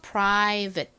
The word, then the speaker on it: private: 소리나는 I 이렇게 씁니다 끝에 V 부분은 v a t e입니다 여기서 a 힘받은 어 소리로 쓰였고 티는 트 소리가 나는데 약하게 발음 되다 보니 받침 들린다고 말씀드렸죠 그리고 끝에 2는 떨 거지로 소리가 나지 않습니다 그래서 private 이렇게 발음이 돼요 private 자 이제 마지막으로